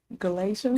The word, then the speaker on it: Galatians: Galatians.